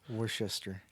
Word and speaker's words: Worcester: Worcester. See, how do you get Schuster out of all those letters?